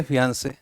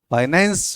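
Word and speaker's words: fiancée: रहती है कुछ लोग वैसे तो एग्जैक्ट स्पेलिंग फियांसे और यहां पर आ जाएगा एफ आई ए एन C double E फियों से ठीक है फियांसे और फिंस फियांसे और फंसे ठीक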